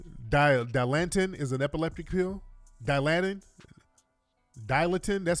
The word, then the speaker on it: Dilantin: was epileptic yeah Dilantin is an epileptic pill Dilantin dilatin that's how you say it yeah yeah